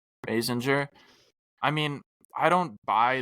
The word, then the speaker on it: Basinger: Basinger. Basinger.